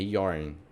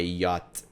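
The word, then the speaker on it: Jote: É Yarn. Eu sei que ele é atendente do Joshua, porra. Não, é Yacht. É que fala J, mas eles pronunciam J com I, né?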